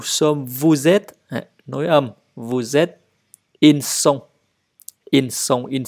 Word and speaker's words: vous êtes: Đối với cái ngôi vous thì các bạn nối âm nha, luôn nối âm. Je suis, tu es, il est, nous sommes, vous êtes. Nối âm, vous êtes, ils sont.